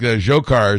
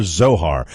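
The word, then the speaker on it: Dzhokhar: pronouncer guy as far is it zokar or Zohar I've had or or johar I've heard it pronounced like 10 different ways as I understand it based on my familiarity with Russian names zokar zokar or zokar is the uh is the pronunciation of his first name where you get SV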